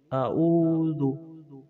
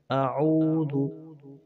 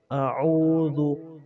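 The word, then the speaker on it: أعوذ: আমরা এখানে অনেকে এইভাবে বলি আউযু বা আউযু এইভাবে বলে থাকি, কিন্তু আইন আইনকে একটু চাপ দিয়ে বলতে হবে।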